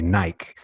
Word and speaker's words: Nike: look at it and you're going to say Nike. That's right. Like rhymes with Mike.